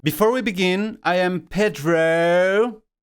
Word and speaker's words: Pedro: the description below before we begin I am Pedro Pedro my name is